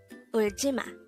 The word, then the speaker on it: 울지마: 울지마. This is pronounced as a three-syllable word. The first syllable is ul, second syllable is ji, the third syllable is ma.